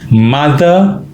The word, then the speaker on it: mother: my father mother father pronunciation is very important it's mother father far is Long mother it's short so four of us this